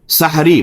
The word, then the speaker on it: سحری: سحری. بعض لوگ اسے سحری کہتے ہیں، وہ غلط لفظ تلفظ ہے.